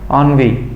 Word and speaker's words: ennui: इसका सही correct pronunciation होता है ennui।